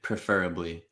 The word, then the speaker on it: preferably: This one I would probably say preferably. Preferably. Yeah. Preferably. Basically all schwas again until the very end.